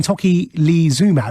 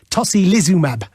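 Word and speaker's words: tocilizumab: drug thank you zoe this one that i was calling toki lee zuma is apparently tosi lizumab there we are tosi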